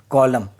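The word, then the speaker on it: column: अगर एन के पहले एम आए तो एन साइलेंट होता है।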